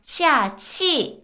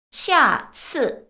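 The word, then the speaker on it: 下次: 소리가 날 수밖에 없어요 그래서 이거는 치가 아니라 쓰 스 스 바람 바지 소리 나면 안 돼요 쓰 스 스라고 읽어 주셔 그래서 샤치 아니고요 샤츠 이게 다음이란 말이 다음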